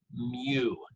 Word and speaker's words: mu: I'll say that again, mu. It's like a U with a M in the front, and it's pronounced M, or it's spelled rather M-U. That's for a population.